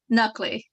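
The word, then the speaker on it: Nakhleh: comments thank you our next speaker is nakla hello thank you for letting me speak today my name is nuckley is my first name my last name is spelled n-a-k-h l-e-h I am from Collegeville Pennsylvania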